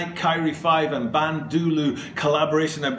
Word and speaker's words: Kyrie: if I remember rightly I mispronounced his name throughout that video I thought I totally forgot about this I just remembered it right now I think I called him Kyle Irving all the way through and I had to